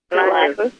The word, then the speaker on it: Elihu: Maybe if someone looked up how to pronounce his name, could tell us how to pronounce his name. You didn't. I did. Elihu, I thought. Yeah, Elihu.